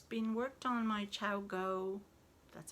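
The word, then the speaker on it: ChiaoGoo: It's very thick, actually, I find, and it's been worked on my Chow Go, that's how you say it, 2.25 needles, and it's a Peruvian yarn, I believe.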